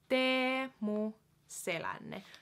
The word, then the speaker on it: Teemu Selänne: / last names so it'll also help with pronouncing just finished names in general so yeah so first up we have Teemu selänne demo sailin so his first name has the double e